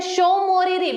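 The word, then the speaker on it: Tso Moriri: ठीक है, यहाँ पे देख सकते हैं शोमोरिरी। बोलने पर हम उसको शोमोरिरी बोलते हैं, लेकिन जब आप उसको लिखते हैं तो उसके सामने में आधा त ऐड हो जाता है जो कि साइलेंट रहता है।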